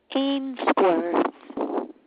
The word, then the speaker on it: Ainsworth: Ainsworth. How do you spell that?